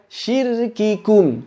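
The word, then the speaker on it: شِرْكِكُمْ: Tidak, diucapkan biasa saja, syirkikum, syirkikum, syirkikum. Yang penting jangan kikum, yang penting jangan sampai hilang udaranya. Karena sebetulnya huruf kaf ketika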